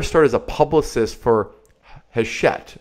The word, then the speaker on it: Hachette: And we have Laura Gale, and she got her start as a publicist for Hachette. How do you pronounce it? Hachette, that's right.